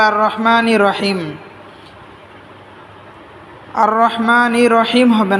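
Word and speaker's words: الرَّحْمٰنِ الرَّحِيمِ: আলামিন আলহামদুলিল্লাহি রাব্বিল আলামিন আর রহমানির রাহিম আর রহমানির আর রহমানির অনেকে বলে আর রহমা আর রহমা হবে না আর রহমানির আর রহমানির অনেকে বলে আর রহমানির রহিম আর রহমানির রহিম হবে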